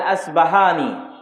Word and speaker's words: আসবাহানি: আমরা প উচ্চারণ করি ইস্পাহান, আরবিতে এটা উচ্চারণ হয় না, আরবিতে হয় আল আসবাহানি, বা উচ্চারণ হয় ইসবাহান বা আসবাহানি।